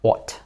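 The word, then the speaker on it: ought: Оцей набір слів, букв, вибачте мене, огхтиту, як зазвичай пишуть мої діти в диктантах угти, воно читається як от, дві букви от т.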